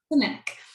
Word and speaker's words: Cenac: Cenac? Cenac.